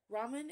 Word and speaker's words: ramen: into a real dinner Ramen is the Japanese pronunciation of the Chinese word Lan L Lan Ramen and Laman should similar sound similar right Ramen Lam lamin lamin